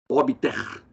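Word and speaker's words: obiter: Obter dictum, expressão latina. Obter, lembra, não é obter porque o B não é mudo.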